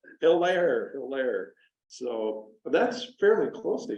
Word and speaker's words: Hilaire: Hilaire, Minnesota. Is that how you say Hilaire. Hilaire, okay. I'm not even from, I don't. French isn't very good. Yeah, I guess not. Hilaire.